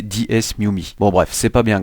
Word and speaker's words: DeSmuME: Oui, alors en fait excusez-moi pour la prononciation, mais il me semble que ça se prononce DesMuMe. Oui parce que lorsque j'ai tourné mon intro j'ai dit DS mum, mais en fait c'est DesMuMe.